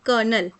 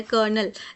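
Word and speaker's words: colonel: option number C कोलोनल लेकिन हम इसको प्रोनाउंस जो करते हैं ना कर्नल इसको प्रोनाउंस इस तरह से किया जाता है कर्नल लेकिन स्पेलिंग्स होती है इसकी सी ओ एल ओ एन ई एल ठीक है इंग्लिश स्पेलिंग्स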